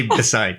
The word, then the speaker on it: Bessai: just get it out there you could say Bai Bai yeah I'm supposed to say bessi because it is the proper pronunciation that's right want to make sure we